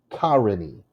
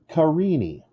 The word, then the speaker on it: Carini: syllable is stressed peter in my last name it's three syllables ca re knee so which one is stressed you gotta think about it if the first one is stressed then my name is karini karini it's not kharani it's carini the second syllable is stressed so there's a girl